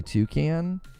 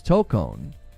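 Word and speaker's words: Tōkon: It's actually Toucan. No, it's not. We just listened to the official trailer, and she says Tokon.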